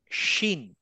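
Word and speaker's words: ش: এরপরের যেটা সেটাতে আমি যাই, সেটা হচ্ছে শিন। শিনটা হচ্ছে বাংলা তালব্যস্বর মতো।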